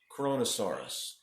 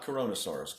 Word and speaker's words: Kronosaurus: is called listen closely kronosaurus kronosaurus chrono Sarris only four syllables not corona soros kronosaurus this bad boy